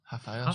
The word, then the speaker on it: Rafael: In Brazil, they pronounce R's as H's. Rafael.